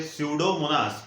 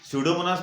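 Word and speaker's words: Pseudomonas: तो जहाँ भी ऐसे ऑयल पोल्यूटेंट्स या हाइड्रोकार्बन रहेंगे वहाँ पे स्यूडोमोनास, पी साइलेंट है वहाँ पे, स्यूडोमोनास नाम के बैक्टीरिया ऐड किए जाते हैं.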